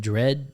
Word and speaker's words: Dredge: in Dredge.